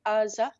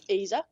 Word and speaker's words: AZA: I mean, as our CEO keeps insisting to call AZA, not AZA.